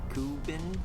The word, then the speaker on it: CooBeen: untested brand for me this is the kubin that's how you say it 3d filament maker i